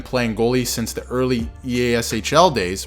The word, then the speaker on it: EASHL: goalie since the early EASHL days, which is exactly how you pronounce it by the way, I'm not sure what eShell is, nobody knows what eShell is, and you completely made that up.